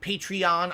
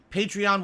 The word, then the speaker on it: Patreon: P patreon I guess they actually pronounce it patreon even though it makes no sense because patreon is supposed to be a take on patron of the Arts so to pronounce it patreon literally undermines the point but the owners say you pronounce it patreon if